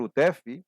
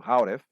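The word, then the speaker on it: Houteff: Victor Utef, que às vezes é pronunciada no americano Hauref, mas vamos pronunciá-lo como Utef, igual como a ex-presidenta do Brasil, né?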